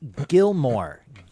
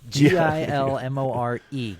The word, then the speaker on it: Gilmore: And and uh it's pronounced Gilmore. G I L M O R E.